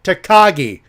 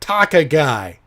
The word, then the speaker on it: Takagi: change your chin go Takagi and before I continue with that hey Ali mr. Ali Davis of Russell talked its Shingo takagi not talk a guy not talk a guy it's Takagi even I got that